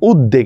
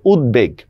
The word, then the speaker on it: উদ্বেগ: কারণ বফলার উচ্চারণটা বহল আছে আমরা অনেকে এটার উচ্চারণ করি উদ্বেগ এটা উদ্বেগ হবে না এটা হচ্ছে উদ্বেগ বাধ্য শব্দের উচ্চারণ কি আপনাদের নিশ্চয়ই মনে আছে